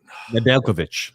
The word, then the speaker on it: Nedeljkovic: Nedeljkovic. Yes, that's it. Nedeljkovic. I'm always going to mispronounce his name.